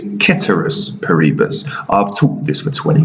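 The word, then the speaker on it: ceteris paribus: tell you i bet you said it was cetera's parebus no my knowledge of latin suggests that it's ketterous paribus i've talked this for 20 years and i've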